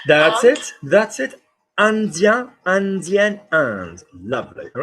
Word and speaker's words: Indien: So how are we going to pronounce the word India? Not Ind, but And. That's it. That's it. Indien, Indien, and.